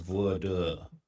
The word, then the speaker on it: voir dire: Pronounce voir dire. Yeah, like, bro, he's here on a visa. Like, okay, school systems just don't. Okay. Voir dire. That's how it's pronounced.